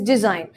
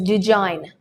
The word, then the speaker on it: design: take the word design the correct pronunciation for this word is design however there are some people who mispronounce it well if you go to places like north india where people's native language is hindi some people tend to pronounce it as dejan well if you say dejan to a native speaker of english he might have difficulty in understanding the word another example is a